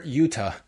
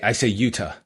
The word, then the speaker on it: Yuta: when you see Yuta, it's a hard T rather than the soft T like in Toronto? I say Yuta. Yuta. What's a soft T? What's a soft T? Well, like Yuta, like pronouncing like a D.